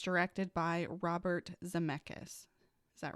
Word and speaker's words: Zemeckis: Luke Evans is coming in as a new character called the Coachman, and it's directed by Robert Zemeckis. Is that right? Yeah. Okay. I don't know how to pronounce his name.